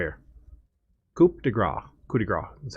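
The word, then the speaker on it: coup de grâce: Coup de grace is how it's actually pronounced.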